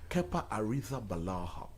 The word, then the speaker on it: Arrizabalaga: No, but that's the true pronunciation of his name. It's what? Kepa Arrizabalaga. That's the pronunciation. Spanish.